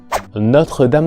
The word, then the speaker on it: Notre-Dame: Sin duda que aquí lo más difícil puede ser en la primera palabra, notre, la sílaba, la vocal abierta, perdón, o, y sobre todo, la combinación tr, la oclusiva t y la fricativa r.